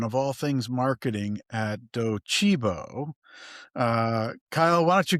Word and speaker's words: Docebo: We Chris and I talked about the name before we got on, and it's Docibo. Docibo.